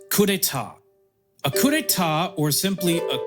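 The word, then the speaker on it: coup d'état: It's pronounced coupeta.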